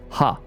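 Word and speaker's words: ห้า: Second, the number five in Thai is pronounced as ha.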